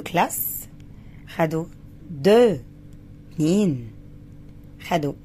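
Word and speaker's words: deux: اكس في الاخر دي لا تنطق، يبقى دو.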